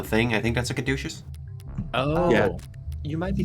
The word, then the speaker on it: caduceus: Caduceus Executive Plan 4 isn't like most people, Counselor. I think that's pronounced caduceus. Caduceus. It is. It's like Greek or some shit.